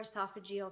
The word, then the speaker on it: esophageal: who has stage four esophageal cancer and is that how you say it yeah yeah all right you said it right and um we're just